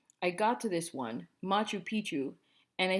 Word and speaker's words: Machu Picchu: I said something like Mac who picked you bad moose she said Machu Picchu I thought she was nuts until my mom informed me that is how it is pronounced my mother went straight